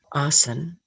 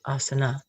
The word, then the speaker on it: asana: consciousness to this point the third one arson sometimes pronounced as asana is what is called